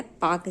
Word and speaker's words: Palk: इसका स्पेलिंग क्या है, PALK है, तो हिंदी में इसको पाक पढ़ते हैं।